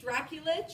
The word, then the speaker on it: Drakulic: Like Brandon said, my name is Drakulic. She said my name right. It is actually Drakulic. That is how it's pronounced, Dracula with an itch.